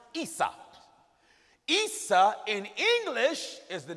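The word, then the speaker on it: عيسى: Esau in Arabic is pronounced Isa.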